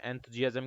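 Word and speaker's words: enthusiasm: एंथ्यू, ENTHU, एंथ्यू, जी, तो एस का यहाँ पे जय साउंड आएगा, ठीक है, जी ए जम, ठीक है, एंथुजियाज्म ऐसे याद रखो इसको, एंथुजियाज्म।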